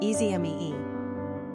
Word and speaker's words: Esme: Pronunciation, easy mee.